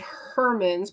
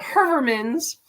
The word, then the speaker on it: Heuermann: say it right because it's not how I said it growing up. Heuermann's, and we always knew it at Herman's, but Heuermann's.